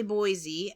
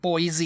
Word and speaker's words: Boise: happening but it's definitely Boise uh um yeah you can't really think of other words that end with e where you pronounce the E like e though Boise yeah yeah Boise I